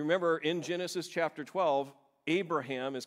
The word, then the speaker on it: Abraham: There's one letter emphasized in that whole thing, and I'm not trying to do it on purpose. It's the only way I can really figure out how to say it. It's Abraham, okay? You see that ha that comes out.